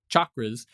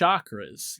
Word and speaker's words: chakras: they say chakras which the original Sanskrit pronunciation like chocolate chakras they say chakras and